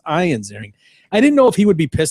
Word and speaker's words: Ian Ziering: Well done pronouncing his name correctly. It's Ian? not Ian Ziering. It's Ian Ziering.